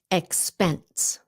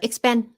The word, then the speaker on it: expense: Expense. Expense. Không phải là expend. Put that S at the end, please.